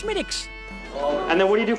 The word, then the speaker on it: Smithwick's: Yes, it looks like Smithwick's, but it's actually pronounced Schmidt's.